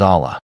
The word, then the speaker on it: Allah: The word Allah is made up of two syllables. Al and Ilah. Al means the and Ilah means god. When these two syllables, which are the two units of the pronunciations, are combined, the letter I becomes silent and Alilah becomes Allah.